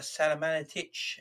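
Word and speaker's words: Salihamidžić: on all these things unfortunately talking about uh salamanitch is how you pronounce his name uh the sporting director at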